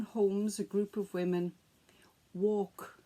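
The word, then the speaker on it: waulk: a group of women, walk, and it sounds the same as if you would go for a walk, but it's spelt W-A-U-L-K.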